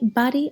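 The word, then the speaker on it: բարի: To say good morning in Eastern Armenian, we would say bari aravot. Notice we're using this bari word again. Good morning. In Western Armenian, we would pronounce it pari aravot.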